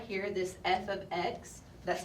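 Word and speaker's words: f(x): looked at this before this right here this F ofx that's how you say it this is function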